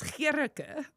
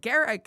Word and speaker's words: Gerke: to him was, well, the way you pronounce it is Gerke. That's pretty. And, but the reason I said Garrick is because that's what the first INS guy who interviewed me in